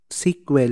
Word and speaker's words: SQL: it means structured query language so it's pronounced pronounced as sql jung sequel hindi pentagon sql sequel sql is a it